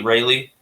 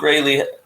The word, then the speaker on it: Raley: I don't know how to pronounce it, and so it made me feel dumb. But I think it's Raley. Yeah, I think it's Raley.